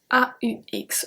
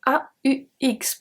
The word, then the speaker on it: aux: If the country is a plural country, we are going to use AUX, pronounced O as well.